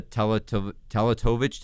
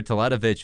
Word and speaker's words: Teletovic: But a kid in Mirza Teletovic, tell me if I'm pronouncing that right or wrong. You can correct me. Teletovic, yeah.